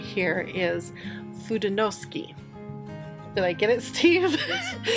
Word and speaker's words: Fudenosuke: This is the pens I'm talking about right here, and I believe the way you pronounce this name right here is Fudenosuke.